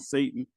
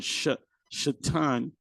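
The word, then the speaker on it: שָׂטָן: Not instead of Satan, but Shatan is a Hebrew word meaning adversary.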